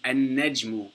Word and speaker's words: an-najmu: So we don't pronounce the lam, it's an-najmu, because the noon is a sun letter.